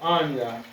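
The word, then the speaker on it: אני: word I we have Anya that's how you will pronounce it you'll pronounce it as Anya and this is how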